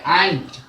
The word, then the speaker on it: aunt: तो ANT चीटी, AUNT चाची, और दोनों का समान उच्चारण है आंट।